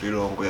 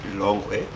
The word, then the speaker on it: Lilongwe: I live in the city of Lilongwe. Others pronounce it Lilongwe.